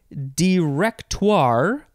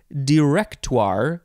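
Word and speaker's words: directoire: fun word it is director or director you can emphasize the second syllable or the third syllable I feel like emphasizing the third syllable is the best way director capital d i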